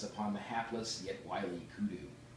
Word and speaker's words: kudu: As I contemplate the vigor with which you pounce upon life, even as the mighty lioness upon the hapless yet wily kudu, rhymes with blue.